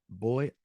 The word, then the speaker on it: voy: I'm going to read, voy a leer, I'm going to dance, voy a bailar. And it's pronounced boy like B-O-Y. Boy, the V and the B have the same exact pronunciation.